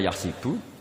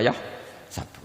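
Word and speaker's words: يحسب: Karena dalam qiraat sab'a ada yang baca yahsibu, qiraat kita baca yahsabu.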